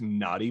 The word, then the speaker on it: Nauty: And that's when it just clicked, naughty bass. And for those of you with any visual impairments, that's spelled Nauty, like the last half of astronaut, or like nautical, because there's some deep sea vibes too with it.